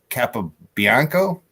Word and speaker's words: Capobianco: They call him Tino Capobianco.